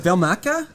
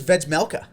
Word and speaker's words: Vejmelka: Is it Velmaka? I was thinking it was Vejmelka. But that can't be right. That J's got to be silent. Has to be because that was the most Western pronunciation. Yeah, we'll go with Vejmelka. Vejmelka, yeah, we'll go with that.